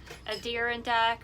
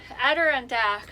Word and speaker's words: Adirondack: cool seeing the um a deer in deck or i just always say it wrong baby adirondack mountain so i'm glad we